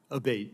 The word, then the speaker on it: Abate: ma'am ever uh Mr Abate and am I saying your name properly we've heard it pronounced three different ways today in the hearing aate Senator aate okay thank you um